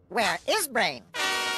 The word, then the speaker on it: WereBrain: oh where brain gr Penny it's pronounced where is brain and that's a good question it worked I